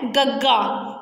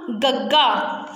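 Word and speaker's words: ਗੱਗਾ: करना है वह है गग्गा। ग नहीं बोलना, गग्गा, जिमें गग्गा गेंद, गग्गा गमला, गग्गा गाजर।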